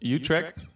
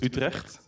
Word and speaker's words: Utrecht: is Utrecht and then that's how they say it in English or how the Americans say it in Dutch in my language we don't have a the Utrecht we have a for all the geez so it's retract and there's a lot